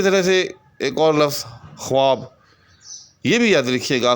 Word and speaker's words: خواب: کہ درست نہیں ہے۔ درست لفظ جو ہے اس کا وہ ہے خواب، ٹھیک؟ یعنی درمیان میں یہ جو وہ لکھا ہوا ہے یہ لکھنے میں تو آئے گا، لیکن یہ تلفظ میں یا پڑھنے میں نہیں آئے گا۔ اسی طرح سے ایک